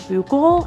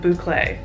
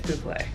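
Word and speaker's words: bouclé: like where i exist the fabric that we got is called buckle i think that's how you say it so i'm going to stop myself right here because i found out that you actually pronounce it boucle for the record it's bouplay it's a very comfortable fabric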